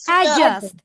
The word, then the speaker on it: adjust: D লেটারটা pronounce করব না। জি এর জায়গায় একটা স্ট্রেস দিব। Adjust.